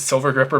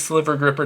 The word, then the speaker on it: Sliver Gripper: Everyone mispronounces it as Silver Gripper, but it is Sliver Gripper tweezers.